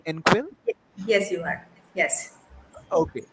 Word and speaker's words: Engquil: enquil encore is the tommy am i uh pronouncing it correctly end quill yes you are yes okay so uh swami